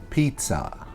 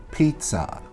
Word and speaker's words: pizza: next one we have pizza pizza is not pizza it's Pizza like I think actually you would spell it like p-i-t-z-a that is the correct way to pronounce it is pizza not pizza